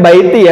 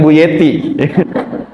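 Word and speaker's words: بيتي: Bacanya baiti ya, bukan buyeti.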